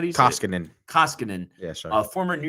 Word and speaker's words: Koskinen: Is it Kasikton? Their goalie, Blue Whalers, 12-6 on the season. Oh, sorry. The Oilers goalie? Mikko Kasik. How do you say it? Koskinen.